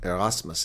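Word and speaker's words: Erasmus: I pronounce things with German pronunciation if they look at Arasmus is how I would say it in German.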